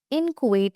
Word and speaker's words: inchoate: Inchoate is how we pronounce this.